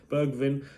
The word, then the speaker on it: Bergwijn: And it looks like we have some news to bring you today as Steven Bergwijn, is that how you pronounce his name? Bergwijn, Dutch international from PSV.